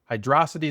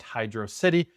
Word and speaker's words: Hydrocity: Number five, Hydrocity Zone from Sonic the Hedgehog 3. And before any of you Sonic stans start typing in the comments, yes, I know it's technically pronounced Hydro- City, not Hydrocity.